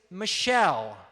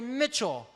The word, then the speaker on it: Michelle: Now, my last name is Michelle, like the name of a girl. But some people mispronounce it and say Mitchell.